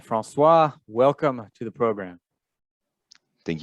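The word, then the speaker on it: François: let us go to francois pelo all right francois welcome to the program thank you by the way did i pronounce it correctly francois yes okay yes i don't pronounce the yes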